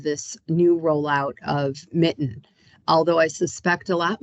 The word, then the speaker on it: MiTN: that is called the Michigan transparency Network or Mitten as we pronounce it and um uh Mitten is a